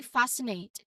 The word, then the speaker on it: fascinate: And finally, fascinate. Here, the SCI combination means the C is silent. Fascinate with a clear diphthong sound A.